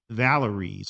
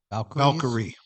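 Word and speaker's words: Valkyries: We have the number one team, Minnesota Links, going up against the Golden State Valeries. Is that how you pronounce that? Valkyrie.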